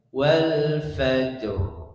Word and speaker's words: والفجر: Nah, itu ro-nya hilang. Nah, itu termasuklah jali keliru ya. Fatal kelirunya karena menghilangkan huruf, tidak boleh. Tapi bacanya wal fajr. Nah, ro-nya ada.